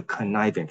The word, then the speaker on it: Cynefin: Simple, complicated, complex, chaotic; the Cynefin framework, it's from a Welsh word so it's pronounced like this.